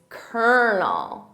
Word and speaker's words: colonel: So I have to think about how it's spelled phonetically because it's not colonel, it's kernel.